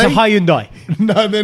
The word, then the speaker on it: Hyundai: No, they will, Sach, because everyone's now saying Hyundai. It's a Hyundai.